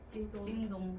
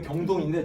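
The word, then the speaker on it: 京东: 징동. 그렇죠. 우리가 읽으면 경동인데 저기서 읽으면 징동이에요. 맞죠?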